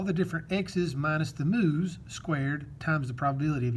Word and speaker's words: mu: here is my mean this is called a mu m u is how you say this move this is my mean